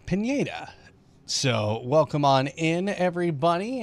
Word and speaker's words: Pineda: are at a fantasy track here that is pronounced Pineda so welcome on in everybody and of course